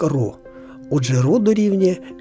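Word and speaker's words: ρ: 17ю літерою грецької абетки яка вимовляється як ро Отже ро дорівнює M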